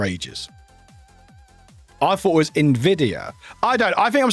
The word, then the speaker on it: Nvidia: Um, but yeah, like this is the same person who said Nvidia wrong because apparently Nvidia, this one is pronounced Nvidia as in Invidia, not Nvidia.